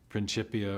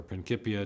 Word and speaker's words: Principia: book written in 1687, the Principia or Principia, depending on your preferred Latin pronunciations.